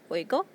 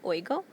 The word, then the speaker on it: oigo: For our yo form, for I here, we've got yo, oigo. It's almost like that I is a Y, oigo.